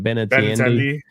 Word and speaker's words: Benintendi: Benintendi.